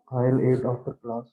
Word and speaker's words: I'll: exactly right and so you're kind of pronouncing it like this right like your aisle um you're saying it like that as your pronunciation of course you're also kind of doing it like this this is a homonym like I'll I'll eat after class